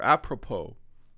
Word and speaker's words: apropos: uh yes I remember apropos the S is silent you will probably get